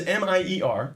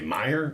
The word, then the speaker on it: Mier: Your last name is M-I-E-R. That's right. And I don't know, in America, we would say Meyer, I guess. Yeah, I got that a lot. The Mier is actually more of a Dutch pronunciation.